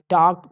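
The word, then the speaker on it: talked: एल के ई डी टॉग टी ए एल केई डी देखिए यहां पर हमारा जो यल है ये साइलेंट है टक टलक नहीं पढ़ेंगे टॉक पढ़ेंगे ठीक है बात करना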